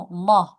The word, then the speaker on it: Allah: Ya, kalau tebal itu berarti cara bacanya Allah, Allah gitu ya. Itu tebal.